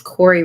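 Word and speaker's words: Kouri: forever yeah Mel I think her name is Corey richens but I think it's spelled k o u r i I [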